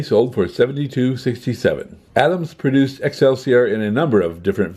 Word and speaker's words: Excelsior: called extra Court okay they probably didn't mean for it to be pronounced that way if you just say the letters it becomes X LCR or you can change it up just a wee bit and it becomes Excelsior Excelsior is characterized by